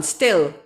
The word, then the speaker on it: still: okay no and this is a short vowel still still still this is not it's like hill no um to rob